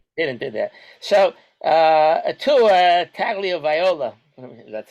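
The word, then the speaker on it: Tagovailoa: So Atua Tagliaviola, that's how to pronounce it.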